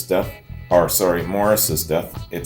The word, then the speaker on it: Maurice: and The Supremes following Maurice's death or sorry Morris's death it spelled Maurice but pronounced Morris following Morris's death in